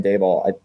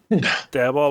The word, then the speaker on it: Daboll: But last year Brian Daboll, I don't know, Ty, look it up.